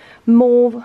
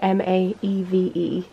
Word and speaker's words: Maeve: These are from Maeve. Wait, I've said this wrong before because it's an Irish name. How do you say M-A-E-V-E?